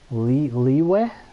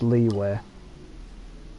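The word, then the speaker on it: Liyue: game on chinese audio i'm pretty sure it's pronounced leeway so here let me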